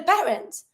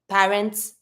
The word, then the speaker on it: parents: it's plural such as parents par you're never going to pronounce the S Plus you're never going to pronounce a final T the only consonant that